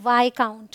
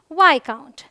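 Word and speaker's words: viscount: यहाँ पर ये साइलेंट है, इसे हम पढ़ते हैं वाई काउंट। क्या पढ़ते हैं, वाई काउंट।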